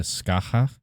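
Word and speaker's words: Scáthach: pronounced very close to Skaha.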